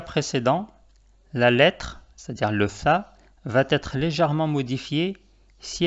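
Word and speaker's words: ث: Cette lettre s'appelle tha. Tha. Comme tu peux le voir, elle s'écrit comme le ba et le ta.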